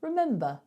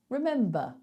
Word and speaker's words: remember: a word like remember there's no vowel after that R so we don't say it we just say remember remember however however double however